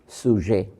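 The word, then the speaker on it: sujet: ভার সাবজেক্ট কে বলে সুজে সহজে বুঝতে পারেন ইংরেজি বানান বলছি এস ইউ জেইটি টিটা উচ্চারণ হয় না সুজে পর্যন্ত উচ্চারণ হয় এটা অনেকটা বাংলা সহজের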